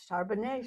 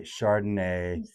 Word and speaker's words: Charbonnet: However, what we say there is Charbanet. Chardonnay. Charbanet.